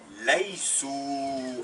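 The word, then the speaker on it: ليسوا: Et ils ne sont pas laïsou, avec un alif qui ne se prononce pas.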